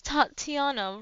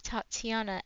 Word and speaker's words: Tatiana: the second a of Tatiana and the first a of very long let's see the second a t an and roma okay I think that that's how we pronounce it my friends call me